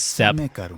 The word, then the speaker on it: steppe: or I guess it's Steppe. Someone told me that the PE is not pronounced, and I had no idea, so I'm going to pronounce that correctly, if it's Steppe.